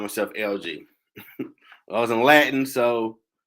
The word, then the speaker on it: LEG: then, I called myself LG. I was in Latin, so it's I called it LG, but it was spelled LEG. My family like that say leg, like no, it's not. The E is silent.